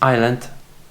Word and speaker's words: isla: It's pretty obvious because you pronounce it E, but for English natives it will be a little bit different because you guys pronounce it island, and this will be isla.